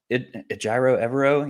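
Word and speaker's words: Ejiro Evero: that's really bad um yeah I mean like ayro evero yeah that's how you say his name um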